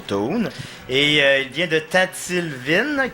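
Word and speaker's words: Toune: Puis c'est ça, il s'appelle Toon, T-O-U-N-E, mais qu'il faut prononcer bien sûr Toon.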